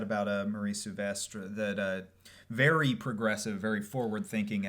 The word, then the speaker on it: Souvestre: Souvestre. Oh, Souvestre.